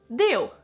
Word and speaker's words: Deu: do it together Tasha my last name is just simply de you might see it